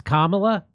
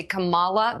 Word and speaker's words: Kamala: is wrong Kamala is wrong say it it's kamla that's what I think let's hear it again